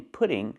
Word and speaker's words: putting: The T in pudding sounds like a fast D because it's between vowels.